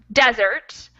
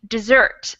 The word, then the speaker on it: desert: about the definition but the stress is on the first syllable and then on in the next sentence where we have like a synonym to abandon it would be dessert stress on the second syllable thank you very much